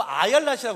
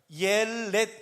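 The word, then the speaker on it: אילת: 아렛 샤알 이름이 예쁘지 않아요 근데 이걸 자꾸 아라이라 그래요 아니요 아예렛 이고요 뛰어서 샤이에 아렛 샤하 있니다 발음 자체가 예뻐요 아렛 샤알 어이 아일렛은 어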